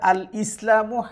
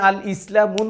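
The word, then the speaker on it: الإسلامُ: দুই নাম্বারে আমি লিখেছি আল ইসলামু হাক্কুন। তবে আমি আল ইসলামুন বলতে পারতাম। বললাম না কেন? আলিফ লাম যদি কোন শব্দের প্রথমে থাকে তাহলে ওই শব্দের শেষে একটা পেশ উচ্চারণ করতে হয়।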